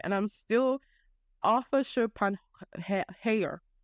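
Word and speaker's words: Schopenhauer: I can get it right and I'm still ARA shopan ha how shopen Hower okay ARA shopen Hower right Google or pick up this guy by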